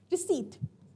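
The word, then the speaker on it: receipt: तो रिसीट के अंदर क्या है, हमारे पास पी साइलेंट होता है।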